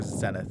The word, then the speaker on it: Zenith: Also, is it Zenith or Zenith? I never know. You can pronounce it either way.